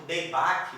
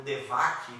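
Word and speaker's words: דבק: O hebraico deibak, ou devak, né, dependendo da pronúncia, né, a gente vai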